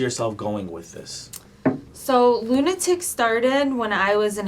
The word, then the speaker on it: Luna-Tic: So this is your Luna-Tic brand. Yeah, this right? is my own brand, Yep. Lunatic. Yeah. Yep. So where did where did Luna? It's spelled Luna-Tic. Yeah. Right. So it's Yeah. Lunatic.